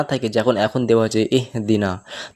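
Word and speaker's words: اهْدِنَا: মাঝখানে লাম না থাকে যখন এখন দেওয়া আছে এহদিনা তো এই আলিফ যে অক্ষরটা আলিফের সঙ্গে যুক্ত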